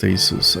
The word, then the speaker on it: Asus: a Asus I think it's supposed to be pronounced Asus I don't really care they have a thing